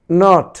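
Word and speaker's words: knot: তাহলে এখানে দেখলে এন এর পূর্বে, প্রতিটি এন এর পূর্বে কে ছিল, কিন্তু তার উচ্চারণ হয়নি।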